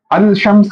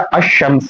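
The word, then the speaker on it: الشمس: और इसे हम कहते हैं अशमसु ना कि अल शमसु। ठीक है? यानी यह जो लाम है यह प्रोनाउंस नहीं किया जाता।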